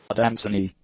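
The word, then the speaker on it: adansonii: So let's see what the pronunciation is. Adamsoni, Adamsoni, Adamsoni, Adamsoni, Adamsoni, Adamsoni, Adamsoni.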